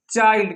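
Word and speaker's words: child: आई के बाद एन डी आए या एल डी आए तो हम आई को आई पढ़ते हैं। क्या पढ़ते हैं हम? आई ही पढ़ते हैं। जैसे क्या लिखा है? चाइल्ड।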